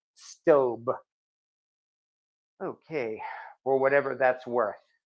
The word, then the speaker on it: Staub: stain so I definitely like that also I'm pronouncing it stobe I got it off of their own website